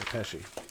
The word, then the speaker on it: Pesci: Yeah, Pesci, yeah.